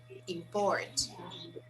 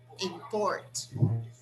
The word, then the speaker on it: import: So when I say these words as nouns, the stress is on the first syllable. When I say them as verbs, the stress is on the second syllable.